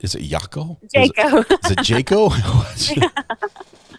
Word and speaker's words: Jaco: I would like to because I call it Jacko is it not is it yako is it Jacob Jayco Jayco okay I'll remember that all right thank